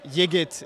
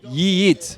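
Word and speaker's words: Yiğit: Yeah, it's like if you really, really want to pronounce it the Turkish way, it's Yigit, but Yigit is enough. Tell me the Turkish way again. Yigit. It's Yigit. yeah, you don't say the G.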